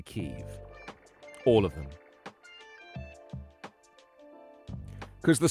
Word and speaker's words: Kyiv: Apparently Kiev is the Russian pronunciation. So the Russians would say Kiev. Kyiv. All the US broadcasters say Kyiv.